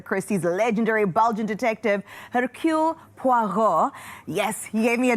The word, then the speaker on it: Poirot: Now, let's talk about Hercule Poirot. Yes, the pronunciation was superb.